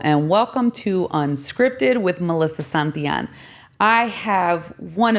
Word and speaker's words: Melissa: my my first name I'm so used to people calling me Melissa it's actually not pronounced that way did you know that no Melissa Melissa I mean yeah with a little accent a little accent Melissa but you know Melissa